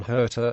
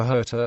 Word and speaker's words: Hirta: Steele adds weight to the idea, noting that the islanders pronounced the H with a somewhat guttural quality, making the sound they used for Hirta almost Kilta.